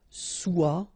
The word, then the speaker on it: soit: Okay, then of course être and avoir, so être will become soit, remember final S is not pronounced, soit, then soyons, soyez, alright?